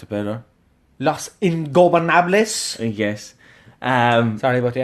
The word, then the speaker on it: Los Ingobernables: Say it for me, because you can pronounce it better. Los Ingobernables.